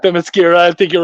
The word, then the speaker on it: Themyscira: So yeah, Themyscira.